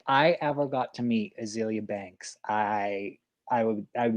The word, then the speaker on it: Azealia: azalea or azealia banks you say azealia say azalea yeah i say azealia because i think okay she that's how she pronounces it yeah you're right if i go to wiki it's azealia and not azalea so you're you are